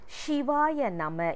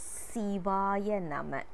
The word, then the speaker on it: Sivaya Nama: Shivaya Nama is also a wrong pronunciation. It is Sivaya Nama. Also, we are not supposed to say this as Sivaya Namaha or Sivaya Namaka.